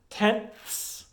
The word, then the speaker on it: tenths: But for 4th grade, you only have to know tens, tenths, hundredths. It's hard to say. You get that sound at the end.